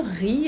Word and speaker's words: riz: Mange riz aumes riz riz é o arroz Z no final não se pronuncia é um substantivo masculino